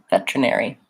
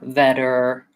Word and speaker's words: veterinary: same vowel that we had in regular so that trip NER think about it as kind of the word air e veterinary or veterinary I would suggest reducing it and makes it more simple if it has fewer syllables veterinary veterinary veterinary I do think I use a puff of air there veterinary if I'm if I'm going right to the art if I'm saying better that veterinary then I use the flap T veterinary